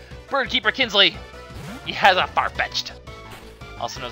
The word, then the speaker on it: Farfetch'd: I always call it Farfetch'd D. People are like, what the hell's wrong with you, Lucky? He's not a Farfetch'd D, he's a Farfetch'd. Well, there you go, I said it right now.